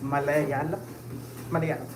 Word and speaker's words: Malayalam: So that is mala as in malpractice you know mala yalam yalam as in like you know yam or whatever and lamb lamb as in lamb it's malay yal malam it's a it's a